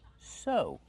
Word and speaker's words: sew: Use a long O sound like no and go. Sew.